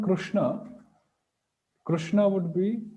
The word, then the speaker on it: Krishna: So yes, Krishna. Is it the Cree sound or crew sound? Is it ru or re? Okay, that's also one thing. It's not crew.